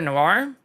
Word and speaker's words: noir: Noir. This word is pronounced as noir.